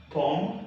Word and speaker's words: pomme: Pomme, the O is pronounced O.